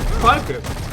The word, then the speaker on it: Falke: What's the correct German pronunciation for Falke? Falke.